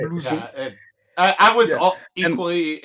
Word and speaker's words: blouson: And yeah, well, for Blausen, for starters, that would actually be blouson, which doesn't Right. sound Right. anything like how you said it. No. But it's Right. blouson.